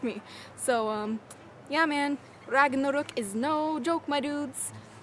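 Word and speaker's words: Ragnarök: and where you can dragon rock as you probably know it is actually pronounced Ragnarok is that's as good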